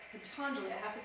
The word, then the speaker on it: Patanjali: During the classical yoga of, and I'm going to say it wrong again, I got it right yesterday, Patanjali, there we go, that's how we say it. Patanjali, I have to say